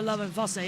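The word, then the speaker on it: Lovinfosse: Lola Lovenfosse, yeah.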